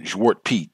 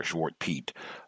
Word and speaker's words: Zwart Piet: And then Zwart Piet, that's how they say it over there, Zwart Piet.